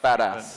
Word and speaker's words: BDAS: There was BDAS, which-- ALI GHODSI: Like badass. ANDY KONWINSKI: Yeah, badass. It was like the official nomenclature. You have to pronounce it "badass" to badass stack.